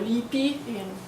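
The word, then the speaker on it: λύπη: rendered here with the Greek term lipe or lipi, according to the modern pronunciation, joy and tears, hatred and pity, fear, cowardice, and courage.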